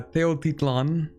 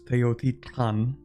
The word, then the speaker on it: Teotlan: Uh Teotlan. Actually it's Teotan. There's like a little a weird little sound there.